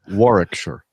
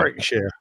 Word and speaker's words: Warwickshire: You don't say the second W. Warwickshire.